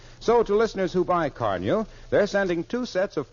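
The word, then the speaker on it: Car-Nu: car new tomorrow sure car new is spelled c r Nu now I'll repeat the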